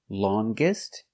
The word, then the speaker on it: longest: longer than the Amazon and if we change the adjective with est EST longest we're going to pronounce the G sound long GG longest the Nile is the